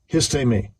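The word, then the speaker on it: ἵστημι: Now, when you go into this word, which, let me get the pronunciation in the Greek. Strong's G 476 me. Histemi.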